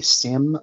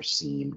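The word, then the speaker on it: SIEM: um and you'll need to understand what a sim a sore and an xdr service are so sim or seem depending on how you want to pronounce it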